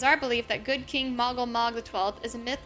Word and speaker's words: Moggle Mog: I've been saying his name wrong. Moogle Moog, Moggle Mog.